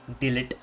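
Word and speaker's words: de Ligt: it was um delete you don't pronounce it as Del H you call it delete so anyways I was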